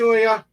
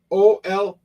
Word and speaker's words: Olga: I'm mispronouncing her name a little bit. Olga. The spelling of her name is Olga. How you like it said is Olya.